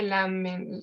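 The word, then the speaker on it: Lamennais: se pronuncia su nombre y se dice la mente se escribe la mennais de éste pero bueno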